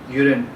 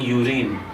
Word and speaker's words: urine: we feed many people say recipt but it's pronounced as received the she'd received received okay this is the second word urine you and I hear many people saying you rain but it's not you read it is urine